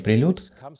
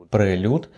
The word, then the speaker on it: Prelude: Название прилюд пошло от французского слова, означающего музыкальное вступление. Правильнее произносить прелют, но можно и по-английски. Оба варианта возможны.